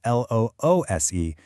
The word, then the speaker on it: loose: It gets mixed up all the time with L-O-O-S-E, which has an S sound, loose, and means not tight.